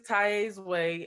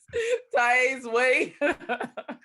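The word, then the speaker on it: Taiye's Way: So it is Tai's Way. It's TAIYES. Well, YE apostrophe S. Okay. Way. And did I spell that right? TAIYE. Yes, Tai's Way.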